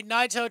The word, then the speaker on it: Naito: that is tetsayo nato or should i say naito tensilia because that's how they say it in japan they like to go last names first ready to take it to